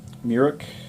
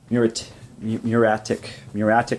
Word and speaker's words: muriatic: So I broke down and went and got some muric acid. Not saying it correctly. Muriatic acid, which is used kind of like it's a cleaning acid.